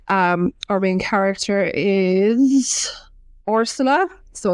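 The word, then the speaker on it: Orsola: our main character is orsula so it's like I thought it was arsela for ages in the audio just she was pronouncing it funny but it's it's with the O So arsela Roso and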